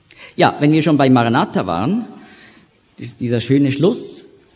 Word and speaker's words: Maranatha: Also, Marana Atta. Das wird gebunden in der Aussprache, so wie das im Französischen, muss man ja auch oft so die schöne Liaison, die Bindung machen. Und dann gibt es Maranatha.